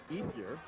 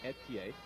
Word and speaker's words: Ethier: Depending on how you pronounce his name, he has always pronounced it Ethier. Ian Breck insists that somewhere in his heritage it should be pronounced Etier.